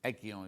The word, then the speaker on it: Aegean: Aegean is how you say it.